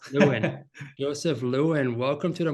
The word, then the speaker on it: Lewin: Is it this how you pronounce it, Lewin? Joseph Lewin. Yeah, close. Lewin.